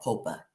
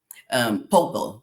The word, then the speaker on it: pulpo: It's called pulpa here. Pulpa. Pulpo, excuse me. Pulpo. That's what it's called. That's how you say it in Spanish, but it's octopus.